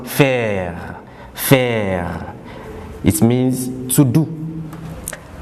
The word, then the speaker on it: faire: It ends with re and it is pronounced faire.